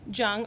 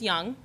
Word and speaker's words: Jung: Um, there is no wrong way of saying Jung or Young. They're both the same. The German name is Young.